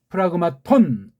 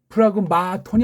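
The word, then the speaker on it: πραγμάτων: 그렇죠 n 혜민 오케이 프라그마톤 오케이 플라그맛 온 브라보맛 온 플러그 마 톤이 아닙니다 이거는 마하게 되면 잠을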